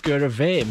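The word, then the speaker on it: Sgùrr a' Mhàim: and i discovered that scurra meme is pronounced scuravem because mh is a pronounced a v for some reason so it's even more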